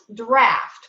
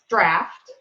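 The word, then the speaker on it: Draught: thank you that's pronounced draft correct it's spelled d-r-a-u-g-h-t but pronounced draft yeah one of our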